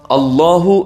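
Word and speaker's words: الله: ലാം ഇനി മറ്റൊരു അത്ഭുതം അള്ളാഹു എന്ന വാചകം ഒരിക്കലും അത് പറയുന്നതുപോലെ എഴുതാൻ കഴിയില്ല അല്ലാഹു എന്ന് നമ്മൾ മലയാളത്തിൽ എഴുതും അല്ലാഹ് എന്ന് ഇംഗ്ലീഷിൽ എഴുതും അലിഫും രണ്ട് ലാമും പിന്നെ ഹാവും അറബിയിൽ എഴുതും എന്നിട്ട് അതിനെ അള്ളാഹു എന്ന് നമ്മൾ വായിക്കും ആ വാക്കിന്റെ മറ്റൊരു പ്രത്യേകത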